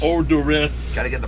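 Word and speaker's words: Oderus: Gwar, and you're of course you're known as Odious. Odorous. Gotta get the pronunciation right there, okay, Road Dog.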